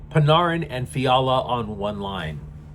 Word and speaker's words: Panarin: Moreover, even though they recently traded for another winger, Arti Paneran, it was the with the idea that you would pair Pinarin, my bad for mispronouncing it the first time, Panarin and Fiala on one